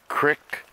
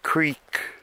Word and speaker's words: creek: into the creek creek i say it both ways qrik for the people that live up here and creak for the people who know how to pronunciate wow i can't believe